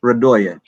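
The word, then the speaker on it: Radoje: a mess because r-a-d-o-j-e but that j is pronounced as it as uh radoya okay i got it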